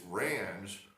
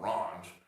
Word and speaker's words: Range: It's Range. I guess, as he said, the French pronunciation. It's not Range.